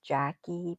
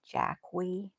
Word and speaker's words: Jackie: Like mine is Jackie, but a lot of people call me Jackwee.